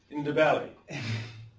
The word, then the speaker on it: Ndebele: And if you want to know how to say the Ndebele, you just have to say in, da, and then point to your belly. Ndebele.